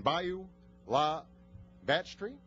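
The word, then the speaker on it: Bayou La Batre: clinic that she has built and rebuilt in Bayou La Batterie. Did I say that right? Well, tell me how to say it. Bayou La Batterie.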